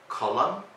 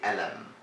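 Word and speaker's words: قلم: This letter is pronounced like alif, which is the first letter in the alphabet. For example, a pen would be kalam or kalam, something like that. And in Egypt, we say elam.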